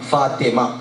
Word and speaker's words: فاطمہ: فاطمہ پورا کہنا چاہیے، اور فاطمہ بھی نہیں ہوتا، فاطمہ تو ایک نیچے زیر ہے، فاطمہ ہے.